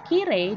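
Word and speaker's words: きれい: Kirei sensei, pelafalannya tapi kire. Sehingga dia masuk ke kata sifat.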